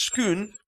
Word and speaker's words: Scone: Scone Palace she said Palace stone village are pronounced skon and the things you have with cream and jam are pronounced scone he says that's good